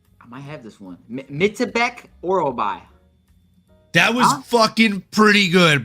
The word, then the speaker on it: Myktybek Orolbai: Chris, the Action Man Curtis, and can you pronounce this name for me, Pip? I might have this one. Myktybek Orolbai. That was fucking pretty good, bro. Huh? Yeah. Myktybek Orolbai.